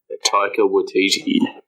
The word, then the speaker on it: Taika Waititi: I heard this today, I did hear that Taika Waititi's, I don't feel like I forget how to pronounce his name. Oh, yeah. Taika Waititi.